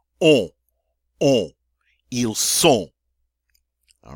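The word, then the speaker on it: ils sont: to use a beautiful nasal sound oh oh EAL soul all right but i don't say eel soul we don't hear the end you know salt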